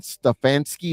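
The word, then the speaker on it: Stefanski: he should be uh Kevin stefansky is that the proper way to pronounce his name that's perfect uh uh Sean mcder who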